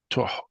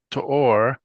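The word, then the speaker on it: תואר: Not to force a Yafat To'or. To'ar. To'ar. To'ar. Yeah, accent that first syllable.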